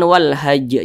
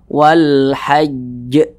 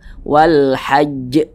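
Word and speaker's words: والحج: qqolah hanya ini bertasydid ini jangan Wal Haj jangan langsung tapi ditasydidkan dulu wal haajj wal haajj ahah agak sedikit ditahan sejenak Wal Hajj Wal haajj tapi jangan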